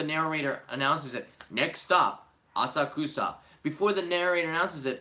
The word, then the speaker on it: Asakusa: Amanda, since you visited Asakusa, you have to say it right. Although, the city of Tokyo calls it Asakusa. That's not me, that's the city of Tokyo, because it's on the subway announcements.